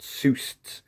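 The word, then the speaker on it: Pseustes: is hard to pronounce called zeus with a silent p at the front known as the puffing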